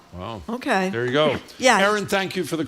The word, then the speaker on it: Erin: I don't want to mispronounce. Erin E R I N.